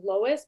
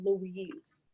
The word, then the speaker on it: Lois: That mattered to her because my mom's name is Lois, but growing up people would always say Louise.